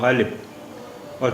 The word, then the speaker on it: غالباً: تو یہ غین الف لام بے، تو یہ وہ غالب، اور پھر یہ تنوین الف پر دو زبر ہیں، یہ تنوین ہے، تو یہاں اس کا تلفظ ہو جائے گا ان.